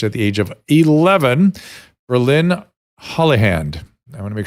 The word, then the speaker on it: Brilyn: I get it right you're all good as bryland but thanks for having me Dr Drew I